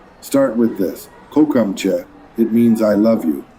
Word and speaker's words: kocham cię: Kocham cię. It means I love you. Kocham się? Did I get that even remotely right? You're so close. It's pronounced kocham cię.